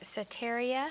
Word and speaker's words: Soteria: And Jerry is an executive director, and make sure I'm pronouncing this right, Soteria.